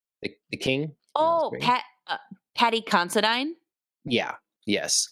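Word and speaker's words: Paddy Considine: So, and Patting Constantine, how you supposed to say his name? Uh from House of the Dragon, the the king. Oh, Pat Patty Considine.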